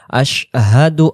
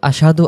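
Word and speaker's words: أشهد: শাহাদাতের ক্ষেত্রে আমরা পড়ব আশহাদু আল্লা ইলাহা ইল্লাল্লাহু আমার সাথে সাথে আশহাদু আল্লা ইলাহা ইল্লাল্লাহু আর যদি আশহাদু আশাদু আশাদু বলে তাহলে সিনে জবর হয়ে যাচ্ছে। তাহলে উচ্চারণ স্পষ্ট করে আশহাদু আল্লা ইলাহা ইল্লাল্লাহু আযান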